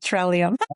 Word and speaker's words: Trellium: First is to pronounce it trellium.